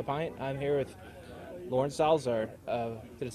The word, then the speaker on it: Salazar: I'm here with Lauren Salazar. Did it say it right? Salazar? Salazar, Salazar, yes, of New Belgium.